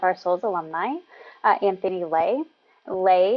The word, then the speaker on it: Lê: Lay is spelled L-E as in life and empowerment, and Lay as in legitimately your go-to friend and guide in this journey, especially in this next hour.